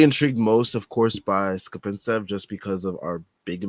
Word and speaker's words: Skapintsev: I didn't know how to say it before, but Skapintsev.